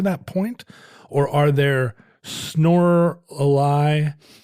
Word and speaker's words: Snorlax: Or are there Snorlaxes, rhymes with Lorelei.